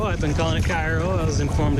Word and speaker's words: Cairo: john's is the same it's to get past cairo i've been calling it cairo i was informed it's pronounced cairo and that'll put us outside of